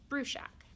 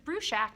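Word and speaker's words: Bruchac: to pronounce them joseph bruschak said that um in slovakia where his father's family's from it would be pronounced differently but here because they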